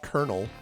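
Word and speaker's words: colonel: Or don't get me started on colonal which is kernel apparently.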